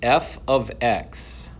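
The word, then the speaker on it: f(x): now introducing is function notation we announc we pronounced this F ofx okay this right here can be any letter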